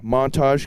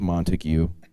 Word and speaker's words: Montague: Stan all right from Montage California Nick Wood bless you just kidding I was told it was Montague all them silent letters in there all right another good